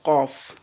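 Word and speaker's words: قاف: La première lettre que nous allons voir, la plus en arrière, elle se prononce en élevant le fond de la langue vers la partie molle du palais. C'est la lettre Qaf. La lettre Qaf.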